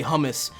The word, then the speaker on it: hummus: say it kind of like a in Arabic really say Oh homeless is homeless you say homeless you use the back here throw it a little bit but in English you just say hummus because you know that's how we say it if it looks like